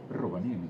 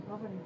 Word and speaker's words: Rovaniemi: And how do you pronounce Rovaniemi? Rovaniemi.